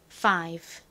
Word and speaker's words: five: 그러면 세게 F 소리가 나겠죠. 거의 쌍비읍에 가깝게 발음해 주시면 됩니다. 다음 I는 여기서 I 소리로 쓰였죠. 그래서 Fi가 됐고요. 끝에 V는 V 소리가 나니까 Five가 되죠. Five.